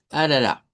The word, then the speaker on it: arara: La primera sería arara. Esa es bastante fácil porque pues solo tendríamos pura R, eh, como que fuera suave. Arara, solo cambiamos la al final, ¿verdad? Que es una a centralizada.